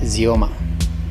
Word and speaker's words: Xeoma: on most operating systems i believe is pronuncioma in russian the same as in my language romanian in english is commonly pronounced xioma if you are watching